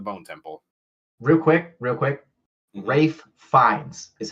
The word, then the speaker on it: Ralph Fiennes: Rafe Fiennes is how you say his name.